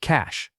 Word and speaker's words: cache: This word looks like it should rhyme with mustache, but it actually sounds like cash.